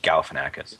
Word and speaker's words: Galifianakis: to say his name I think he's just Galifianakis yeah I think it's I think it's simpler